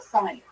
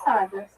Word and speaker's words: Sandra: That's how you say it. I was called her Sonya. So me and Margie and Sandra, we are the office specialists.